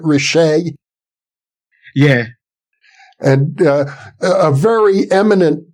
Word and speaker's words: Richet: Am I pronouncing his name correctly? Is it Richet?